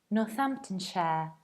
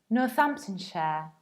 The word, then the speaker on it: Northamptonshire: But if it's a part of a bigger word, you need to reduce it and pronounce it like share. And that's why we pronounce this county as Northamptonshire.